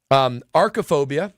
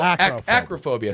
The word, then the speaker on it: acrophobia: Archophobia. Archophobia. No, acrophobia. Sorry.